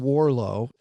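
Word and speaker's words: Warrillow: there that I like a guy named John Warlow that's how you pronounce his name if you're spelling it it looks like warillo w-a-r-r-i-l-l-o-w but John Warlow has a whole brand called build to sell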